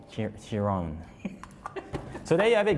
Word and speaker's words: Chiron: It's called the Chiron. Chiron.